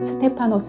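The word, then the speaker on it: Στέφανος: 3 방이라는 왜 이름이 헬라 헤아 엘라 식 발음으로는 스테파노 스 라고 했네요 그 뜻은 어떤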